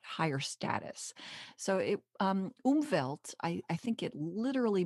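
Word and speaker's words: Umwelt: and the word is umelt umelt it's German yeah it's spelled u m wlt so it's always going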